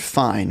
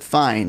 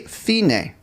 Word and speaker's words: fine: Now we also see the word, now this looks like the word fine, right? But we don't pronounce it fine because it's from the Italian language. So we say fine.